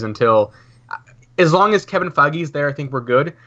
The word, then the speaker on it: Feige: Is it pronounced Feige or is it Feige? It's Or- Feige. It's Feige. It really is, okay.